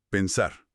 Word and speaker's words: pensar: ¿Dónde está la fuerza de la voz? A ver. pensar. La fuerza de la voz está al final, está en la sílaba sar.